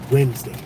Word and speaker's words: Wednesday: Why is Wednesday pronounced Wednesday? It's W-E-D, that's wed, N-E-S, that's ness, D-A-Y, that's day. Wednesday.